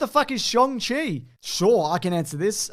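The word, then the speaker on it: Shang-Chi: jordan says what the is shong chi sure i can answer this uh it's the way you pronounce it i for years thought it was shang chi but apparently that is that's how you pronounce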